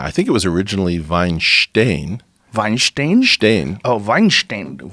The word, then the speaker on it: Weinstein: o'mine and that's where the family though the vine stain family came from we talked about how many people mispronounce ya Weinstein instead of Weinstein it's it's